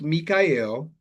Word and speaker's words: Michael: My name is spelled Michael but pronounced Mikael.